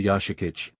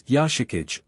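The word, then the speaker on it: 吉影: Is it rude to call you Yashik?" "No, just" Kira paused, surprised and stymied by her wide eyes and mortified expression. You don't quite pronounce it right. It's Yashikage all at once like that.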